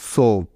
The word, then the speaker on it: soap: তাহলে এই শব্দটির উচ্চারণ হবে সোপ। দেখো কিভাবে, যেমন প্রথমেই পেলাম এস, তাই এস এর পরিবর্তে নিয়ে নিব দন্ত স। তারপরে আছে উ এবং এ, ভাওয়েল দুটি একসাথে, তাই নিতে হবে ওকার। সুতরাং দন্ত স যোগ ওকার মিলে হবে সো, এবং শেষে আছে পি, তাই নিলাম প। তাহলে দন্ত স যোগ ওকার যোগ প মিলে হলো সোপ।